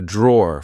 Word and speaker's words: drawer: e at the end we just say draw here we have my